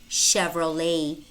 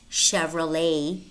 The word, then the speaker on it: Chevrolet: parachute parachute Michigan Michigan brochure brochure chandelier chandelier Chevrolet Chevrolet notice how the final T is pronounced yet Chevrolet machine machine and it might also be spelled